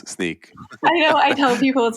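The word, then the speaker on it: Snyk: hard you know try tweeting how do you pronounce sneak I know I tell people called sneak and they're like really so I have you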